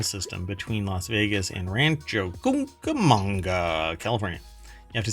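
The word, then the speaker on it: Rancho Cucamonga: between Las Vegas and Rancho camanga California you have to say it like that you can't just say Rancho kukamonga you have to go Rancho CA manga so there's only one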